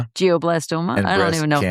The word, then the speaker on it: glioblastoma: glioblastoma Thank you.